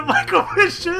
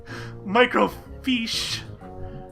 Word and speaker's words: microfiche: Any idea where the microfish is? Microfiche. Microfiche. Yeah, that's right. It is pronounced microfiche, isn't it?